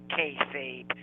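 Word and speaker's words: kayfabe: f a b e I think it's pronounced kabe it's supposed to be a pig Latin word that when you rearrange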